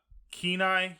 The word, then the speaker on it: Kenai: Kenai, you said is how it's pronounced?